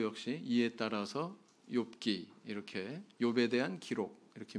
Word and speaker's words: 욥: 성경은 히브리 원문 성경의 제목이 이요 오브 빠르게 발음하면 뭐가 될까요 요기 되겠죠 아 이 욥 이라고 하는 이 제목은 70인역 뽕 과 나친